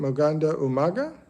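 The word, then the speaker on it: magandang umaga: Um, Moganda Umaga is how they say it in the Philippines, which is good morning.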